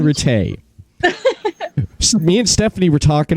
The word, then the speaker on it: Ratte: about therian retay darian retay me and stephanie were talking about i was asking her is like how do you pronounce her last name and she said it's pronounced for tay it's french awesome yeah i i